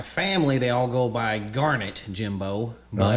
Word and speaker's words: Garnett: it's Garnet like darn it. Okay. That's what they've always said. Okay. I think Tut says Garnet like the stone, like the stone, but it's not even spelled the same.